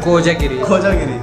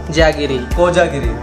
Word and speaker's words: कोजागिरी: कोजागिरी के बारे में ख्वाजा नहीं कोजागिरी प्रोनाउंस कर कोजागिरी यस यू डिड इट